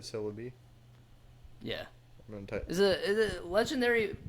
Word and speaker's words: Celebi: movie was about Celebi they spell it uh c-e-l you're gonna have to just go from there like celery but Celebi yeah is it legendary